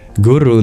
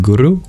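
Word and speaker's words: गुरु: more a more mystical deconstruction of the word guru into the syllable goo and the syllable Ru let's explore that for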